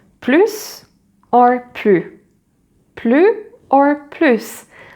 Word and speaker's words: plus: If it is positive, you will always, nearly always, very often, pronounce the final S. For example, if someone asks you if you want more, so t'en veux plus?